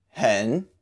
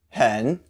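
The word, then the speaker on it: 很: meet you pronunciation breakdown hen sounds pretty much like the English word hen you can think of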